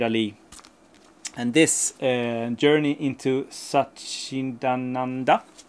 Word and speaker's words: Satchidananda: And this Journey into Satchidananda, exactly like that. That's exactly how you pronounce it.